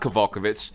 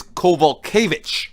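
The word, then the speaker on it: Kowalkiewicz: it's okay sorry nope it's not caval kibbutz it's cobalt kovitch oh yes I had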